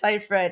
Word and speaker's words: Seyfried: and i can't i don't know how to pronounce the last name sometimes but i think it's seifried and finn whit rock yes yeah and to